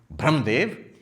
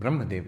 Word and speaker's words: Brahmadev: Brahmdev. I said, you mean Brahmadev, yani Brahmadev, right? Vahi, Brahmadev. Pronunciation problem. He means Brahma, but he keeps pronouncing it as Brahma.